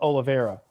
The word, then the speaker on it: Oliveira: Well, Cowboy Oliveira, it's pronounced Oliveira.